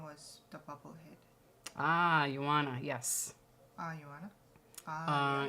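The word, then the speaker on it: Joanna: yes ah Yan ah you pronounced that as why okay mhm oh well she is she's not American Yana oh okay uh I forgot what country she's from but yes the J is pronounced as a why in her country um yeah it would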